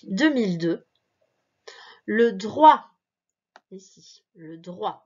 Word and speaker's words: droit: le droit ici le droit le t il est muet tu ne prononce pas le droit à l'eau